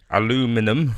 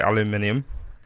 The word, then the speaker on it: aluminium: Aluminum, as you Americans say it, but I say aluminium.